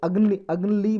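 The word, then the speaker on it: AGNIi: Sorry, अग्नि बोलो या अग्नि बोल लो आप, इसमें एल साइलेंट रख लो, शॉर्टकट में आप अग्नि बोल सकते हो या AGNLI।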